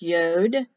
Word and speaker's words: yod: t the ninth letter ud it's pronounced yod they spell yod either one's correct this is the y